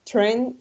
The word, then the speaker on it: train: So here you have train station, right? Acuérdense que hay algunos casos que la AI va a sonar como una E.